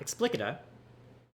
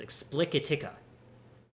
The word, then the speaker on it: Explicatica: Found out I was saying that name wrong the entire time. There are two C's. It's not Explicita. It's Explicatica. Which I think is a terrible name.